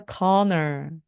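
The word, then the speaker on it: colonel: 컬이라고 발음하기 굉장히 쉬운데요입니다 corner corner 발음과 스펠링이 정말 다릅니다 그래서 그는 대령님 입니다라고 말씀하실 때 he is a conor he is a conor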